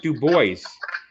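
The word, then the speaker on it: Dubois: one they said it's spelled DUIs but it's pronounced du Bo well I've seen DUIs hey actually a hit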